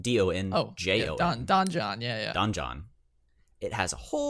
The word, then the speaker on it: Donjon: Pull up dungeon.bin.sh, and dungeon is spelled D-O-N-J-O-N.